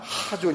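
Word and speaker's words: חָזוֹן: 여러번 들으셨을 단어 입니다 k h 중간 정도 되는 그 강한 발음 하존 있데요 여기서 나온 단어가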